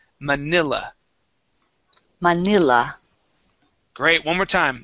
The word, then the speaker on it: Manila: Let's go to Manila. And we want to use a short I here as well. So instead of saying Manila, Manila.